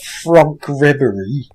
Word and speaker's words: Franck Ribéry: purely to know that Franck Ribéry, that's my French pronunciation there, Franck Ribéry, actually took to the field with my name on the back.